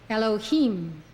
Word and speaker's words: Elohim: don't know meaning Lord when associated with B nah it is pronounced Elohim Elohim according to Rabbi